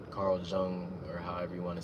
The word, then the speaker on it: Jung: into Carl Yung or it's spelled J U N G, but I've heard it's pronounced Yung, Carl Jung, or however you want to say it.